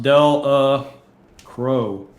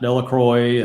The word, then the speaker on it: Delacroix: baton rouge yeah yep so we know it's pronounced del uh crow not delacroix and yeah when that came up on the